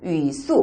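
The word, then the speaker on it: 语素: 네, 중국어로 형태소는 우리가 위수, 시작, 위수 혹은 츠수, 시작, 츠수라고 합니다. 자, 위수와 츠수, 어소 혹은 사소라고 읽혀지는데요.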